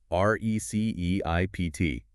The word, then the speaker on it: receipt: In the word receipt, the letter P is completely silent. You do not say the P.